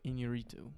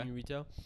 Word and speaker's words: Iñárritu: And directed by Alejandro Iñárritu. Yes. I don't know if I'm pronouncing that You did. correctly or not. Okay. Iñárritu.